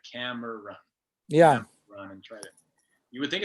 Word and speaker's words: Cameron: from you um yeah it's either carmen or kevin kevin oh yeah yeah yeah cam i just the syllables right camera run yeah you would think